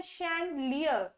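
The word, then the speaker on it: chandelier: तो इसको इंग्लिश में क्या बोलते हैं, इसको इंग्लिश में बोलते हैं शैंडलियर, SCHANDLIER, शैंडलियर। दोबारा से एक्सप्लेन कर देती हूँ इसकी प्रोनाउंसिएशन, दैट इज शैंडलियर, इसमें कोई डी साइलेंट नहीं है, ठीक है, शैंडलियर।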